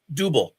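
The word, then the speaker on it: Dubbel: Dubal. Okay. Dubal. It's pronounced dubal, but you can call it double.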